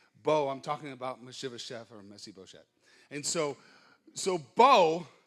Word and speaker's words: Mephibosheth: Jonathan had a son named Mephibosheth. That's how you say it in English. In Hebrew, the way you say it is Mephibosheth.